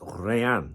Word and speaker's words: Rayan: Rayan is articulated as Ryan with a soft N at the end giving it that smooth French flare.